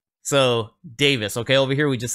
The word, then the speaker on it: Davies: been pronouncing it Ray Davies this whole time that I've covered the Kings but somebody recently let me know hey it's actually pronounced Davis so Davis okay over here we